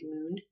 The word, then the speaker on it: Morn: who did the massage her name is Moon kind of like it's spelled like m o RN but it sounds more like Moon anyways she's very nice